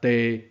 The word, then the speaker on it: 貯: 即字底四声底有另一个声调，中声地。